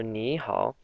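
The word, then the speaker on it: 你好: And the pinyin was N-I, downward arrow, so ni, and hao, H-A-O, downward arrow again, so it's the down-up pronunciation tone. So ni hao.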